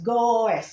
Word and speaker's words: goes: tambahin E dan S goes tulisnya goes Tapi bacanya jangan goes ya bukan goes sepeda Goes Goes Oke She Goes to